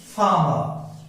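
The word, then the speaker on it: farmer: शब्द के अंत में, when आर comes at last of a word, it's not pronounced, it's not pronounced, it remains silent. Silent होता है, जैसे मैंने लिखा फार्मर.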